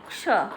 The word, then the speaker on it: क्ष: च वाले छो को हम बोलते हैं छ, लेकिन क और मूर्धन्य श से जो मिलकर बनता है उसे क्ष, मतलब क और मूर्धन्य श का उच्चारण करते हुए ही इसे बोलते हैं।